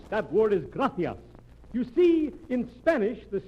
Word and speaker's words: gracias: okay mooches gracious amigo no no no not gracious that word is gracias you see in spanish the sea is pronounced th gracia you see th would you